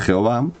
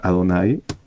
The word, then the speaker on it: Adonai: y lo que quieran no se sabe cómo se pronuncia esa palabra no es Jehová no es esa palabra se pronuncia Adonai la mayoría de las veces por eso algunos me